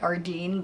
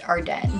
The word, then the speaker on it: Ardene: the longest time ever I've been calling it our Deen but I now know that since it's montreal-based it's pronounced hard day as you can see these like three few